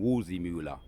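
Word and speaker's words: Waldseemüller: Martin Wolzimula, right, the cartographer.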